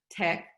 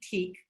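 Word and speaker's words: TEKS: And here I have my, I always say it wrong, I always say TEAC, but I believe it's tech.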